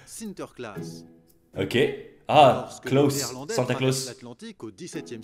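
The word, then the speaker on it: Sinterklaas: parce que c'est Saint-Nicolas Saint-Nicolas se prononce sinter class ok ahlandais l'Atlantique au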